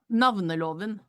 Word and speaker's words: Navneloven: And I sent you what it's really called, and in Norwegian, which I could never pronounce, but we'll call it the Name Act. What that did, Navneloven.